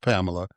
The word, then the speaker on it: Pamelya: her to heaven because your name is spelled P A M E L Y A is pronounced Pamela, but she put the Y in there.